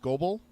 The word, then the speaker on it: Scobell: Walker, I think his name is pronounced Scobell.